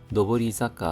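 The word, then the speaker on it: 上り坂: 지타크마데와 자택까지는 로보리자카 노보리자카 하면 오르막이 되겠습니다. 오르막 사카가 자카로 발음이 바뀌었습니다.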